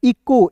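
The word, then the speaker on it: echo: फिर देखिए दोस्तों यहाँ पे ई है तो ई लिखिएगा, CH का दोस्तों क, ओ है तो इसका उच्चारण ओ के रूप में इको, इचो नहीं पढ़ेंगे, इको।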